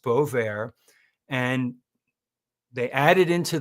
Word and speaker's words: Bovaer: The product is called Bovaer, Bovaer, pronounced Bovaer.